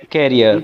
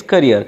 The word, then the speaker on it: career: have listened that you said carer so I have hear that it is not carer it is career I think it is right pronunciation career you said career